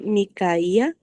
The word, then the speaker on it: Micaía: pensé que se decía mi caía, eh, porque fui yo mi caía. Sí, tienes razón. Micaía. Ajá. Sí, porque hasta tiene acento en la i ni caía, eh, pero a lo mejor en inglés, no sé.